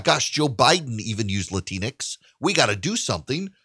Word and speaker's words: Latinx: of white progressives uses the word latinx rhymes with kleenex it doesn't exist in